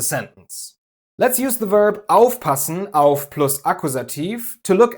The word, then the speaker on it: aufpassen: Aufpassen, einkaufen, vorstellen. Exactly, the stress is always on the prefix.